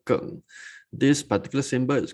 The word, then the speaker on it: Geng: We call it Geng, G-E-N-G, pronounced as Geng.